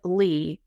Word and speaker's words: Ly: And so that Facebook group is called Speaking Confidently with Lee, and Lee is spelled L-Y.